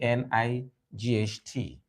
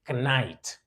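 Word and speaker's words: knight: HT night of course the first letter K is silent so the word is not pronounced kite it's not pronounced knite but night that's why it's silent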